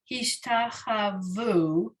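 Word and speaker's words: השתחוו: You have to pronounce, there's two vavs at the end, you see? One vav by itself and one vav with a dot, and it's Hubu. So hishtachavu. So here, what's interesting about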